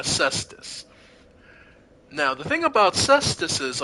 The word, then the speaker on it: cestus: I know how it's spelled, but it's a cestus.